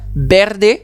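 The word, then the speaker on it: verdes: Berdes. Berdes. He je rappelle que le V ne se prononce pas V mais B en espagnol.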